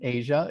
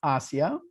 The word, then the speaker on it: Asya: she is in kenya her name is not pronounced like the continent asia it's pronounced asia yeah she is she